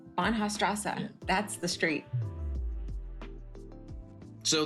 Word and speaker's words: Bahnhofstrasse: Bahnhofstrasse? Bahnhofstrasse.